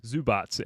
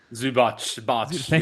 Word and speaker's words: Zubac: Zubats. Am I saying that right? Zubac. Yeah, we can go with that.